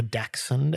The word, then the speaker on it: dachshund: Now, another thing I really enjoyed this week was the Moore Park Dashound or Daxund as the Americans say uh festival that we attended yesterday.